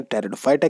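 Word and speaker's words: Pteridophyta: जाता है कहते हैं टेरिडोफाइटा कि अगर हम बात करते हैं स्पेलिंग का विशेष खयाल रखिएगा पीस साइलेंट है अब इस समूह के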